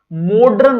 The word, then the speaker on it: मॉडर्न: ओ डी आर एन मॉडर्न होता है मडन नहीं होता तो मडर यह शुद्ध